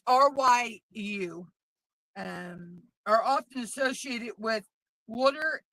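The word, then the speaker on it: 竜: Um, in Japanese culture, dragons called, I believe it's pronounced Ryu. It's Ryu.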